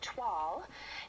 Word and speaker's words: toile: ask for 12 and it's spelled t-o-i-l-e um but you say troll and um you should